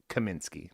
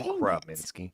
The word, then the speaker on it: Kaminsky: at me sure okay you said it wrong but that's totally fine I don't think I did Kaminsky not robinsky all right that's it